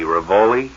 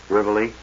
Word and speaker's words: Rivoli: We played the Ravoli. Rivoli. Oh, is that how you pronounce it?